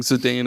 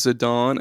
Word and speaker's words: Zidane: the first time, and they were pronouncing Zidane as Zidane, and I was like, no, that's Not today. yeah, Zidane. Yeah, Zidane. Like, bitch, there's an E at the end.